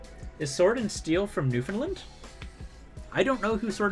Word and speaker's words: Newfoundland: finland but it's a new found land but it's pronounced newfoundland which wow that does sound like finland never realized that yeah